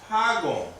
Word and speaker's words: Hagoun: If I omit this, then you have to pronounce Hagoun.